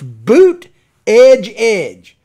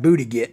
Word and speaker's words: Buttigieg: tall letters in South Bend, Indiana, and it's Boot Edge Edge. So I guess you should pronounce his name Boot Edge Edge. Boot Edge Edge. I'm just going to call him Buttigieg.